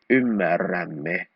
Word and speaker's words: ymmärrämme: We change RT to double R. Ymmärrämme.